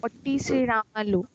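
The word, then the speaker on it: पोट्टी श्रीरामुलु: Spelling बोलो यार मुझे। पोट्टी श्रीरामल्लू।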